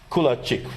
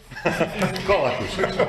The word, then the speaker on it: Kolakušić: And another colleague from Croatia, Kulačić, right? Do I pronounce it correct? Right now, not. Kolakušić. Kolakušić, I know, it's tough with all these names.